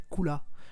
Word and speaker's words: Cooler: pour la première fois, il s'appelle pas Cooler mais Kula. En fait, il le prononce les acteurs français le prononcent son nom à la japonaise, Kula.